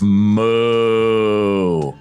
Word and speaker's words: Mu: stupid welcome to the land of moo which rhymes with boo all right I'm just